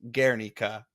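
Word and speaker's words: Guernica: spelled gu ER n i CA but it's pronounced gika because I wrote down the pronunciation ation is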